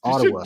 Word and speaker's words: Ottawa: like Paul you're not saying it correctly it's Ottawa you should have called him you should have